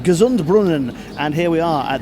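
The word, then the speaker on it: Gesundbrunnen: tight to get this train to connect at Gess and Brunan and then get on the train to Warsaw. Fingers crossed. Well, it turns out it's pronounced Gazund Brunan.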